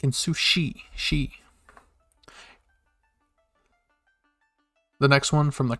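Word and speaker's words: し: She. Like in sushi, she.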